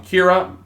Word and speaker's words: Kira: general public there's been calling Kiera which is basically like a Japanese pronunciation of the word killer this displeases light who